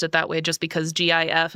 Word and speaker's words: GIF: that way just because GIF is uh with the the soft G sound, the G.